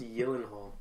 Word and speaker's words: Gyllenhaal: It's pronounced Gyllenhaal, believe it or not.